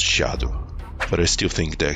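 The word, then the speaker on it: Scadu: Yeah, I found out that Skadu is actually pronounced Shadow, but I still think that Skadushout sounds better.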